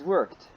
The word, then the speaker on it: worked: the office but is worked not yes it is ends with Ed but pronounce as T worked worked yes I